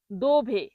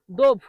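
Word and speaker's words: dove: কমে স্থায়ী পরের শব্দটি হল দোভে। দোভে। ইতালিয়ান শব্দ দোভে। এর বাংলা অর্থ হল কোথায়? জিজ্ঞেস করা কোথায়? দোভে। অনেকে এটাকে ভুল করে উচ্চারণ করে ডোভ।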